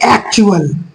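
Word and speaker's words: actual: इसको पढ़ेंगे हम लोग एक्चुअल एक्चुअल क्या पढ़े इसको एक्चुअल इस वाले शब्द को ए सी टी य एल टी यू को चू पढ़ते हैं इस स्पेलिंग को क्या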